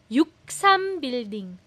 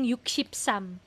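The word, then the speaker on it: 63빌딩: So one of the tallest buildings in whole Yuksam building. Yuksam building. Usually iyung single digit po nila binibigkas po hindi iyung yukshipsam yuksam building minsan yukshipsam building pero yuksam so building ah 63 building.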